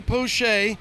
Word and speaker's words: Poche: to say it but we got ronnie poche like bobby boucher but ronnie poche and he's out of